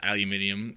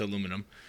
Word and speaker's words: aluminum: It was John Oliver was on the Colbert Report or on Colbert show, and he says aluminium, and Colbert corrects him. It's aluminum.